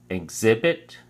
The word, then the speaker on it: exhibit: week six quarter three exhibit has three syllables and the emphasis is on the second syllable so we say exhibit exhibit and it's used as